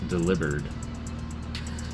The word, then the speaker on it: Delibird: So Nate made a point to remind me that we all say Delibird, and he's certain that it's pronounced Delibird because he's a delivery Pokemon.